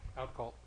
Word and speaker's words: Outcault: How do you pronounce it? Outcault. Outcault, okay.